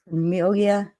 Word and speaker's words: Permilia: It's a woman by the name of Permilia. That's how it should be pronounced anyway.